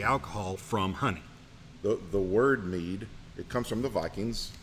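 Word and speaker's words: mjöð: The word mead, it comes from the Vikings. It's actually MJOD, and how they would have pronounced it would be mead, and the English bastardized it into mead.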